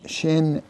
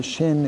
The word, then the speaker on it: shin: So the sound of a shin is sh. The sound of a sin is s like an s.